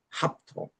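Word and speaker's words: ἅπτω: 피, 그리고 타우, 오메가 이거를 합토라고 읽는데 앞에 보니까 이게 모든 헬라어의 모음이 시작될 때는 반드시 쉼표 부호가 있습니다. 우리 그 거친 숨은 우리 따옴표의 반대 방향. 요것 들 때는 H 발음이 섞여 있습니다. 여기 그 알파 위에 지금 이 끝인 그 쉼표가 있습니다. 그래서 합토라고 읽어요.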